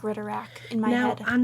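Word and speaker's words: Ridderak: Weird marks sound suspiciously like Ritterak in my head.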